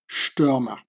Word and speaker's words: Stürmer: The ST is like pronounced like sh, Stürmer.